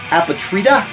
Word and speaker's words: Apatrida: This, I always have a hard time pronouncing the name. Angelus, that's easy. But it's Apatrida.